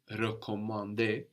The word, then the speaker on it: recommander: But in to recommend, for example, recommander, the E at the beginning is slightly different. No, it's more like in je for I or le for it.